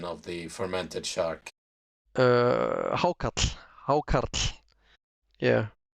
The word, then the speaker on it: hákarl: Give us, I know what it's called, but give us a correct pronunciation of the fermented shark. Hákarl, hákarl.